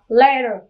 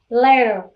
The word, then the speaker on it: letter: có một nguyên âm, cho nên nó sẽ đổi T thành D cho em. Cho nên cái từ này mình đọc là letter, letter.